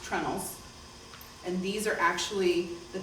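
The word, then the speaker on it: treenails: You can have just simple holes drilled in, and you use what are called, spelled out tree nails, but it's pronounced trunnels.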